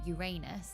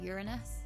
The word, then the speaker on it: Uranus: recently found out the we all say it wrong we say Uranus but it's Uranus yeah but Uranus is funnier